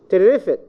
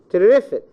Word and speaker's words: terrific: Terrific, terrific. Terrific. You have your students mix between or misunderstand, mispronounce the stress, so they say terrific. This is not acceptable in English.